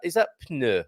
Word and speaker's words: pneu: Is that pneu like it is in pneu? Okay, so you pneu. Okay. You pronounce the P and the N. Pneu.